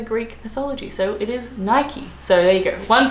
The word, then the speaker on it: Nike: which I don't think so it's Nike because I think Nike is actually named after the Greek god who was like an athlete who run a race or something I don't know he was a big deal he was an is a great God called Nike so there is a right